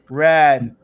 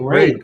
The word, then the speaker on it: Raid: I ain't These gonna guys are obsessed with this new game called Rad.